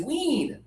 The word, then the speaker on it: wean: And now, the easier verb to pronounce is wean. wean Yeah, right? So, think about your tongue. It's lower and more air.